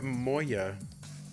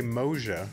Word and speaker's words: Moja: for dog 332 for moya i still really want to say moja but and that that's you know that's not how it's said all right dog and